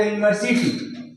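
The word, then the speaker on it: university: अगला जो यूनिवर्सिटी, ये दिखाई दे रहा है कि वॉवेल है, यहाँ पर वॉवेल लिखा है, लेकिन इसका उच्चारण जब करेंगे तो ये व्यंजन की तरह, कॉन्सोनेंट की तरह आता है, इसलिए यहाँ पर हम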